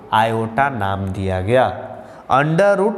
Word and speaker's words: iota: संबंधित करने के लिए अंडर रूट -1 को आयोटा नाम दिया गया। अंडर रूट -1 को आयोटा नाम दिया गया। आयोटा, IOTA स्पेलिंग है आयोटा, जिसको सूचित किया जाता है सिर्फ और सिर्फ पहला लेटर यानी I से।